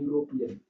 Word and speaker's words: यूरोपियन: लिखा कुछ भी हो जैसे हमने लिखा यहां यूरोपियन यूरोपियन ई लिखा हुआ है लेकिन आवाज किसकी है ही है यूरोपियन यूनिवर्सिटी ठीक है ये लिखा